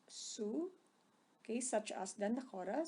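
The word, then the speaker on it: Sioux: okay by the way you pronounce this guy's number three as soo okay such as the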